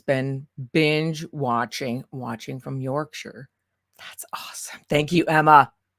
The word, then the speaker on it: Yorkshire: okay awesome Yorkshire England and notice I say Yorkshire not Yorkshire because I've had enough people yell at me and tell me how to pronounce it so I think I'm